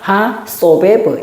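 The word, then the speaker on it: הַסֹּבֵב: 머리 위에 있는 거는 오라고 읽는 거죠. 그러니까 여기다가 하소베브 이렇게 읽는 거예요.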